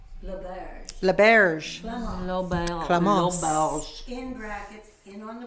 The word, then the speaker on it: L'Auberge: so we wanted to blend so it's called Laberge in Brackets in on the Prairie right right